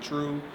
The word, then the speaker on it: Treau: so that's true fitness you just pronounce it true we just change the way you spell it so that we can